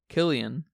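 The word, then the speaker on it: Cillian: our main character's performance how do you say his name selan cyan Murphy yeah they're British celan and and um Christopher Nolan uhhuh so they say Killian I'm I'm gonna I'm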